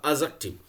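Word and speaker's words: adjective: एडजेक्टिव पढ़ा जाता है, इसको डी साइलेंट कर देते हैं, इसका रियल प्रोनाउंसिएशन होगा एडजेक्टिव।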